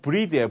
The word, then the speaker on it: breathe: breathe 얘는요 breathe예요. breathe고 그 같은 숨 명사가 되면요 이가 빠지고요. 얘는 breath입니다. breath 흔히 말하는 번데기 발음 여기는 이런 발음인데요. 어쨌든 breathe, breath예요. 그러니까 그쵸 제가 많이 말씀드렸죠.